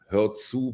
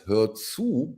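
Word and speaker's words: Hör zu: Without the H is silent. The H is not silent. Herzu. Herzu.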